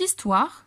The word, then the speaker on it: histoire: Cette histoire se passe en Afrique. En histoire, una O y una I pueden escuchar que se pronuncia como si fuera una U y una A.